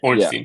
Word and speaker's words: Ornstein: Yeah, Ornstein.